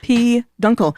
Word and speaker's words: peduncle: main stock of an inflorescence yep and it's pronounced P Dunkle that's uh yeah thank you oh peduncle that's thank you Dilo for hitting that button